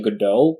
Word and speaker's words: Godot: got my own question how do you pronounce this is it go dot engine or godot engine or well i i personally say good old because i feel like the the literary reference is worth keeping the pronunciation as good goal um it's uh i